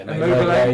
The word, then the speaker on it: Immobile: Is that how you pronounce his name? Yeah, Immobile.